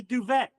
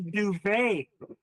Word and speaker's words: duvet: It's a duvet. It's pronounced it's a duvet. Right. I said, okay. Okay. It's duvet pronounced like Chevrolet?